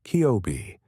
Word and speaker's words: COBE: Scientists have mapped these fluctuations with extraordinary precision, first with the COBE satellite, pronounced Kiobe, launched in 1989, then